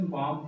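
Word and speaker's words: bomb: आया हुआ है, और अगर एम के बाद बी आता है तो बी साइलेंट रहता है, तो इसलिए इसको हम बॉम्ब ना पढ़ करके इसे बॉम्ब पढ़ेंगे।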